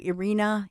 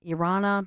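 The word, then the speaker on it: Iryna: It's like the the Ukrainian the Ukraine version of the name Irene. So Arena Irana many people mispronouncing her name but by all accounts now she's an angel.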